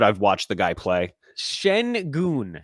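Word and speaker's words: Şengün: just prove that I've watched the guy play Shen goon Shen goon okay because clearly I don't know how to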